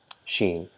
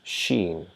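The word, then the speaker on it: شين: Sheen. So the English equivalent of Sheen is SH, the sound that is produced by SH, like shine, right?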